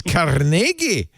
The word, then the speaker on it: Carnegie: Carnegie was, of course, born Scottish, and the correct pronunciation of his name is Carnegie, says Susan King, a spokesperson for the Carnegie Corporation of New York.